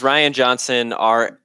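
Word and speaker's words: Rian Johnson: His name is Ryan Johnson, even though it's spelled Yeah. funny. It's Ryan Johnson, Rian, I believe.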